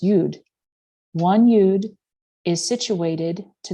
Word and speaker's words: yod: in hebrew the aleph consists of two yods pronounced yud one eud is situated to the upper right